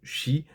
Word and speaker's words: qi: chinoise on parle de K QI qu'on prononce Chi et en naturopathie on